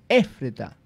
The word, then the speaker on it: Éfrata: Éfrata, pequeña entre las Efrata. Aldeas. ¿Ah? Éfrata. No, tiene acento en la E. Éfrata.